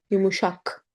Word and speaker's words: yumuşak: Yumuşak.